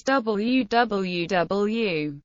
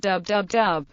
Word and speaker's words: www: In English, www is usually read as www. Some users pronounce it dub, particularly in New Zealand. Stephen Fry, in his Podgrams series of podcasts, pronounces it wh.